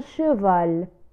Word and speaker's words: cheval: c plus h la lettre c plus h تنطق ش ش على كالحرف شين في اللغة العربية، فنقول un cheval.